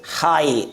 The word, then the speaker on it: high: क्या होती है, साइलेंट रहती है, तो इसे प्रोनाउंस नहीं किया जाता। इसे क्या पढ़ेंगे हम लोग, हाई, HIGH, क्या पढ़ेंगे, हाई।